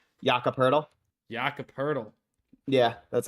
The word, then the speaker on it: Jakob Poeltl: I actually don't know how to pronounce that last name. Podol? Jakob Poeltl.